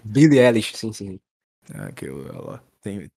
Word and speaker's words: Billie Eilish: comentou lá o episódio daquela artista Como se pronuncia o nome dela Cacique é Billie eilish Billie eilish sentimento Será que eu tenho tem problema sair